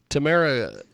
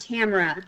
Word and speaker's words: Tamera: Tamera is with us. Tamera, welcome to the broadcast. How are you, my friend? Hey, doing well. It's actually pronounced Tamara.